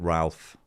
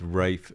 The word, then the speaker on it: Ralph: said his name is Rafe it's pronounced Rafe not Ralph ra okay because ra